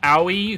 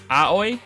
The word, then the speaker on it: Aoi: one yet um uh AI who apparently the English the English um dub says her name wrong it's it's uh aoi maybe aoi but uh we're going